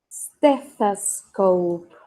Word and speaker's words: stethoscope: Ok, el cuarto en la cajita y se pronuncia stethoscope. Stethoscope. Ahí podemos usar una Z también.